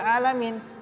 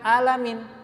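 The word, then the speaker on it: العالمين: Coba, ini seharusnya huruf ain, bukan huruf hamzah. Kamu bacanya seharusnya alhamdulillahirabbil alamin, bukan alamin. Ya, diajarin sama jinnya.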